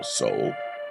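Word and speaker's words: sole: word for soul and the word for the bottom of the foot, also soul, s o l e, are pronounced and even written almost alike.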